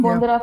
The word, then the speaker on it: Bonderam: Bondera Festival, right? It's spelled Bonderam, but the M is silent.